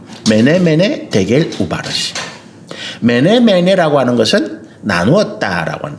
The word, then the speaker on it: 메네 데겔 우바르신: 어떻게 읽습니까? 메네 데겔 우바르신이라고 읽어요. 메네 데겔 우바르신.